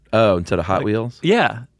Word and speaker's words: Hot Wheels: That's how they pronounce it, Hot Wheels. Oh, instead of Hot Wheels? Yeah, the emphasis is on the hot.